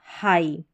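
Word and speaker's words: high: जब भी आई जी एच रहेगा किसी स्पेलिंग में तो इसको हम आई करके प्रोनाउंस करते हैं। जैसे कि यहां पर आई जी एच है। तो इस हनी इस एच को तो हमने ह पढ़ा और आई जी एच को आई तो यह बन गया हाई।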